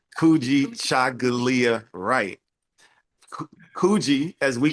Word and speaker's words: Kykujichagulia Wright: This brother's name is Kykujichagulia Wright, and you can correct me if I didn't say it correctly. No, that's correct. Kykujichagulia Wright.